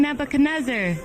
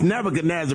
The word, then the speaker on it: Nebuchadnezzar: King Nebuchadnezzar, King Nebuchadnezzar, Daniel needs to talk to you. Why you saying my name so funny? Just Just It's Nebuchadnezzar, but just call me King Neb.